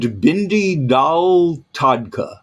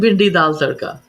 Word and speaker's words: bhindi dal tadka: Tomatar and bindi dal tadka. How close was I? Not that close, but Come on, you say it. tomato and bhindi dal tadka.